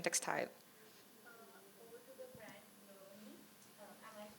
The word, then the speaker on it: Baloni: Over to the brand Baloni. Am I pronouncing it right? Baloni.